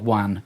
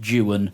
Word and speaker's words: Juan: And she thought that all people from with Latin names, Spain or Colombia, yes, that were called Wan, it was pronounced Jan as they pronounce that over here.